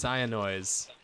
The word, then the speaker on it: Cyanoise: It's Cyanoise. Cyanoise? Forgot the S at the end. But the first S is silent.